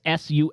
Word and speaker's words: Sufganiyot: But there is a word I don't know how to pronounce it. That's why I did not say it. Sufganiyot. Yeah, okay. Yeah. Yeah, it's Sufganiyot.